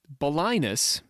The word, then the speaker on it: Balinus: Another origin story for the Emerald Tablet written in Arabic begins with Balinus. Balinus is which rhymes with sinus is is a guy is a person.